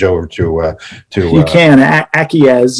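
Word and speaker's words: ACIES: to uh you can acquiesce is the the pronunciation of the stack it's a c i e s it trades under the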